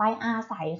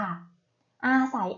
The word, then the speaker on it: อาศัย: มา ใช่ ไหม คะ ลูก ทำ ต่อ ไป อาศัย ค่ะ อาศัย อ่าน ว่า ใส เห็น ไหม คะ ไง มาก